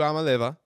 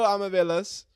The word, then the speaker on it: Iamaleava: So Iamaleava, I'm gonna try Nico Iamaleava. I'm going to just kind of float over the M there.